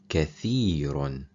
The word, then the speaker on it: كثير: Th is when the tip of your tongue touches up against the front top teeth. The Sin is pronounced when the tip of the tongue touches the lower bottom teeth.